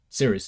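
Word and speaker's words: Cirice: I stuttering or saying everything twice but yeah serious that's how you say it um so I'm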